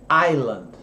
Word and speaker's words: island: palavras então por exemplo a palavra ilha a gente fala Ayla e não Slam de Long Island nada disso é Aila ele some assim como acontece por exemplo